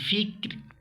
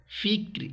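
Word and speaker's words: فكر: যথা দারুল ফিক্র, ফিক্র, এই রটা উচ্চারণ হবে এবং পাশাপাশি কী হবে? পাতলা হবে রটা।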